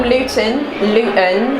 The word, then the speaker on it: Luton: I'm from Luton. If you're actually from Luton, you don't pronounce the T.